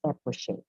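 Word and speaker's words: epoché: There are two pronunciations of epoche. The one is pronouncing the last syllable with a K, but I would rather pronounce it as epoche.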